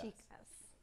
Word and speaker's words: Chicas: Chicas. Chicas.